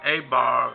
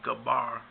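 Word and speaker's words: Eber: son his name was was a some say a bar but the actual pronunciation should be Gabbar but Gabbar was born in the year 1723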